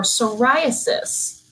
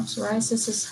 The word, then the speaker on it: psoriasis: So sunflower oil is actually super good for psoriasis. Now, psoriasis has a silent P in it.